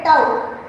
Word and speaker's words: tau: ये नया रिप्रेजेंटेशन है tau, ये जो सिंबल है इसे हम प्रोनाउंस करेंगे tau, which is called age relaxation time.